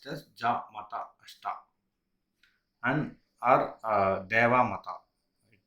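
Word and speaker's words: じゃまたあした: So we will pronounce it as ja mata ashita.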